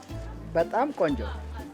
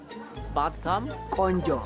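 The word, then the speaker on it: በጣም ቆንጆ: Betam konjo Betam ? Konjo - Konjo Betam konjo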